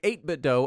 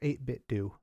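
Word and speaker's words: 8BitDo: for us to say 8bit do about a thousand times oh they insist that it's pronounced 8bit do they're wrong they're very wrong it's 8bit D I think they're trying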